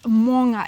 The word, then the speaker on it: maunga: But it's quite hard to get your tongue around because it's moanga. It's like you have to roll your tongue at the back of your... Yeah, how do you spell it? Maunga. So, but it's got that moa. So those Maori vowels are a little bit different than the regular vowels.